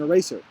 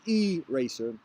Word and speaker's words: eraser: request to borrow an eraser the problem was that I pronounced the word with a heavy stress on the first rather than the second syllable Sarah had obviously never